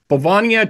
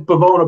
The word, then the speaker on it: Bavona: You got Bavania Child Advocacy center benefit, yeah, I think that is. Am I pronouncing that correctly? It's Bavona, but they've actually just very